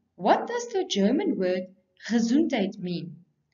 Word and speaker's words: Gesundheit: That is a funny-looking word which is pronounced Gesundheit. It's a German word that wishes someone good health after sneezing. Achoo!